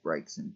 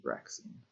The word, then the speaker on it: Braixen: I used to call Braixen Braxin until it appeared in the cartoon. Then I was like, whoops, been calling it the wrong thing the whole time.